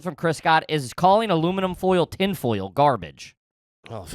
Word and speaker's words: aluminium: Yeah, we don't say aluminum foil. Aluminium. Yeah, we're not scientists. That's how the British say it.